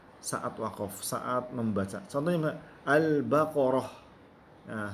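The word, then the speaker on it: البقرة: Contohnya al-baqarah. Nah, sebenarnya ditulisnya adalah al-baqaratu, ya. Tapi karena kita wakaf, kita menyebutkan al-baqarah.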